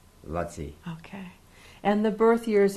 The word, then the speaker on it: Laci: Well, actually, the spelling, his name was Lutzi. L-A-C-I, Lutzi.